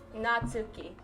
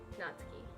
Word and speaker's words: Natsuki: natuki natuki there uh you've just got you just got just got the stress on Sue instead of the N okay okay natuki okay uh thank you chat natuki natsuki it looks like